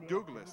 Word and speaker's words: Douglas: It is Douglas. That's how you say it.